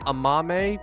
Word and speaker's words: Amame: but oh uh it's it's her name's pronounced Amame but uh Mame is her